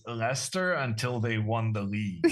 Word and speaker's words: Leicester: is the train towards Lchester and she's like what? So that was my introduction to I mean I didn't learn how to pronounce Lester until they won the league.